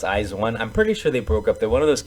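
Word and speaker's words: IZ*ONE: the group izawan or some people say izone but i think they pronounce eyes one i'm pretty sure they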